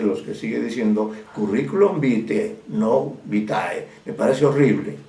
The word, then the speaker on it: vitae: Sin embargo, ahora asombrado escucho que todo el mundo habla de curriculum vitae, ¿no? Que es incorrecto, porque en este caso la palabra se escribe vitae, sí, pero se pronuncia curriculum vitae, no se olviden.